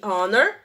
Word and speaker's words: honor: Quando o H é mudo, como our e honor, e honest, nós utilizamos o an, ok?